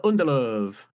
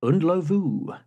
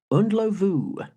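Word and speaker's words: Ndlovu: Peter Unelove. Correct. Thank you very much. Okay. In fact, the correct pronunciation is Unlu. Unlu.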